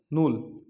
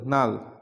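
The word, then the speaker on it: null: যায় তারপর হচ্ছে দেখুন এন ইউ ডবল এল নূ sorry N U double L নাল আর মত উচ্চারণ হয়েছে নাল মানে হচ্ছে বাতিল তাহলে এখানে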